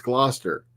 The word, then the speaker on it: Gloucester: so one keeps asked me how do you pronounce kill that word as it's Gloucester um I learned it the hard way because